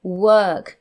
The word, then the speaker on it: work: We don't say walk, otherwise it would be walk. We say work. So it should really have an E there to pronounce it properly, but we're not pronouncing the or as it is written. We pronounce it work. So it's work, even though it's spelt that way.